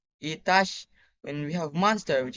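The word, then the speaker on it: عطش: We have thirst, which is pronounced Itash.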